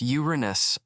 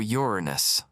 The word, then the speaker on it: Uranus: Okay, first it's pronounced Uranus or Uranus. Pick your poison.